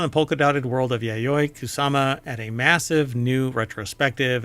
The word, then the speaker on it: Yayoi Kusama: in a polka dotted world of uh okay pronounce her name is it yayoi kusama yes georgez oh yeah right right right right